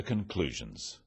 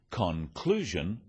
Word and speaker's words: conclusion: Stress occurs in words and sentences. In words, one syllable is stressed. The wrong stress makes it hard to understand. So, conclusion, not conclusion.